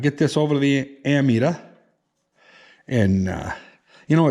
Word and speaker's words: ammeter: always called it an amp meter. Because you're metering amps. But it's actually pronounced ammeter. It's A-M-M, you know. There's no P in it.